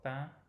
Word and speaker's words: pain: Donnez-nous aujourd'hui notre pain de chaque jour. So again, open O in notre and the same nasal vowel in pain.